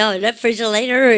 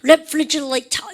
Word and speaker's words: refrigerator: 미국 애들은 발음할 때 어떻게 한다고요? 여러분들 이거 다 연음하죠. refrigerator 이렇게 얘기해요. 아십니까? refrigerator. 여러분들 발음을 R 발음을 T 발음을 다 R로 유성만 시켜보십시오. refrigerator, refrigerator 이렇게 얘기하고요. 영국 사람들은 그런 거 싫어합니다. 그래서요 유성만 시키지 않고 다 얘기합니다. refrigerator 이렇습니까? 다 나오게 돼 있어요.